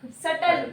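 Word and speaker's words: subtle: ए ज jealous जलसी सटल सोचने का सटल ठीक है ठीक okay सटल बी बी ए B silent okay ठीक है एब्सस ए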